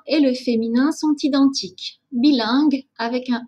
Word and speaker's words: bilingue: une phonétique internationale bilingue souvent le problème de prononciation vient de la partie finale le signe que vous